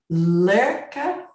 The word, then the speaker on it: Lærke: And Lerka, did I say it right? Yeah, it's good. Lærke. Lerka. Yeah. It's those AE things. It's really difficult to pronounce.